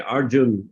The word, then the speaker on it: Arjuna: you'll hear Prophet say Arjun Arjun um not Arjuna Arjun of course in a written form in Sanskrit Arjuna but in uh Bengali they often drop this last a so yeah um there